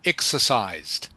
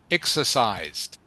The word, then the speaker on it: exercised: Exercised. Exercised. It's almost like a soft t sound.